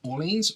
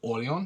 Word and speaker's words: Orléans: so today we have orleans or early on depending on how you want to pronounce it and it is